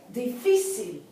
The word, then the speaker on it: difícil: Once again, difícil. Difícil. Here we have a three-syllable word, right? The accent should be on that C-I-L, the last syllable, but it's on the second syllable, fi.